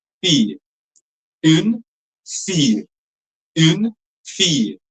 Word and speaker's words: fille: So it will be fee, not fee, but fee, fee, fille.